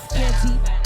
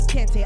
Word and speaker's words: Kanti: My name is Kanti. Both call me. Some people can't pronounce it, so they call me Kante.